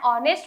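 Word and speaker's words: honest: क्योंकि एच को हम साइलेंस रखते हैं एंड ओ को प्रोनाउंस करते हैं, इसीलिए हम एन ऑनेस्ट वॉकर बोल रहे हैं।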